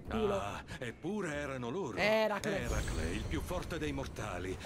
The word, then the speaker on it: Eracle: Eracle? Sì, quello. È così che si dovrebbe pronunciare.